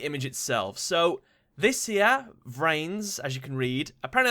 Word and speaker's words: VRAINS: The description it reads, it's pronounced like trains, but with a V. So, VRAINS.